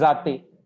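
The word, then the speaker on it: जाते: Pronunciation is zate, like Z in English, not in German.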